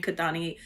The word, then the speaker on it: Kathani: I did say when Anthony said her name kadani like the way it's supposed to be pronounced there was something very